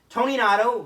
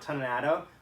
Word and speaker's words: Toninato: Tony Nato, who I found out that's how you say his name, not Toninato, which is disappointing to me,